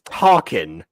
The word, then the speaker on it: Tarkin: is Tarkin.